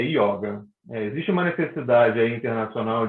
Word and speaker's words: yoga: você vai falar da yoga ou yoga a pronúncia correta é yoga existe uma necessidade a internacional de americanização da